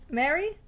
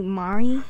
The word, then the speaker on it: Mari: neck right now Mary yes um my name is actually Mari son of a say it correctly right now Mari correctly Mari I said